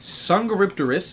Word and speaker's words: Dsungaripterus: of creatures here we got the ferocious pack sanga ripterus that's how you pronounce it i just googled it like six